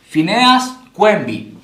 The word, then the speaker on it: Phineas Quimby: Por si acaso se escribe Phineas Quimby, ¿ya? Pero se pronuncia Phineas Quimby.